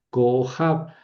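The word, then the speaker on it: כּוֹכָב: Son detallitos que Bueno, cohab también la palabra estrella cojab. Tenemos una sílaba cerrada al final, pero con vocal larga, sí, porque ahí cayento, ¿verdad?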